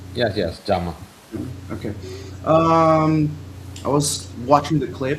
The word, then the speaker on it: Giamma: Is that the correct way to pronounce her name? Yes, yes, Giamma.